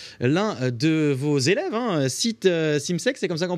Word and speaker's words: Simsek: êtes venu avec l'un de vos élèves, hein, Simsek, c'est comme ça qu'on prononce ?